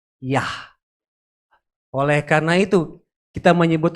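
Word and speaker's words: יה: berarti 10 dan 5 Yod dengan he ye dengan ha dibacanya yah Oleh karena itu kita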